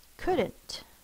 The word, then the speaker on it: couldn't: is could and not couldn't spell o you in this word just like should could D but we've got that silent l apostrophe T you see